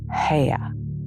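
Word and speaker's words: Haigha: happy his name is ha he pronounced it so as to rhyme with mayor I love my love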